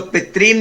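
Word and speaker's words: पितॄन्: जी तो पितरीन में डबल री है वहां। पितरीन जब आप पहले अध्याय में देखेंगे तो वहां पितरीन आया है, तो पितरीन में देखिए डबल री है वहां पर, तो उसको पितरीन यानी दीर्घ स्वर में बोलेंगे आप उसको, दिस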